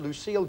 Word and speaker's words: Lucille: That's how he pronounced that. It's spelt the French way, but Lucille.